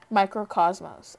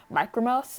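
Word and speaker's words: Mikrokosmos: um i love it i used to think he would pronounce it as micro mouse until on jimmy fallon they said microcosm and i was like wait a minute that's how you say that and i felt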